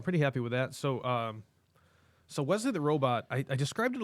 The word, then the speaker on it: Wesley: Wait, is it pronounced Wesley? Yes. I've been calling it Weasley this whole time.